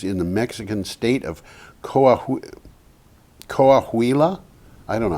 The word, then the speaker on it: Coahuila: It is the 754 megawatt Villanueva project, which is in the Mexican state of Coahuila. I don't know how to pronounce You don't Spanish.